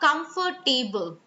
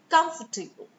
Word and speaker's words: comfortable: So it's not comfortable. It isn't. It is comfortable. So you need to remember that don't make it about table because the stress is on calm.